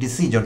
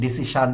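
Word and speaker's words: decision: যেমন আমি প্রায়শই আমার কন্টেন্টে বলে থাকি ডিসিজন একটি শব্দ। তো এইটি শুদ্ধ উচ্চারণ আসলে। আমরা বাংলাদেশের ডিসিশন ডিসিশন যেগুলো বলি সেটি সাবস্ট্যান্ডার্ড প্রনান্সিয়েশন।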